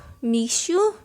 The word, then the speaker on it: Mixue: Mixue? M I X U E. How do you pronounce that?